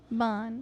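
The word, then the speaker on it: Ban: Bon. At least I'm saying it right now. Yeah, you kept saying Vaughn. I'm like, what the fuck is Vaughn?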